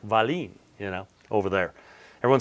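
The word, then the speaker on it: Wahlin: name by the way i always joke the only country i've ever been to that says it right is norway um because it's swedish and it's like valine you know over there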